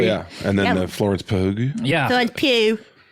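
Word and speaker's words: Pugh: and then the Florence pug yeah po I'm sorry I I think she you do hit the hard G with her yeah pug I thought it was P it's actually p yeah she should start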